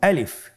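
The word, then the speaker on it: ألف: আমাদেরকে বলতে হবে বলুন আলিফ আলিফে কিন্তু কোন টান নেই আপনারা বুঝতে পারতেছেন আমি যখন আলিফ বলছি এর মধ্যে কোন টান হবে না। আলিফ। আবার বলুন আলিফ।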